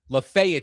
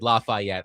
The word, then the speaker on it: Lafayette: During my read before the break, I mispronounced Lefayet Street, as in 219 Lefayet Street, where the Chase and Big Joe show will be on Friday for the grand opening of Goodwood National. I said Lafayette.